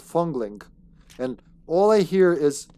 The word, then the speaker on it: Fong Ling: Her name's supposed to be Fong Ling. But for some reason here it's spelled Fongling.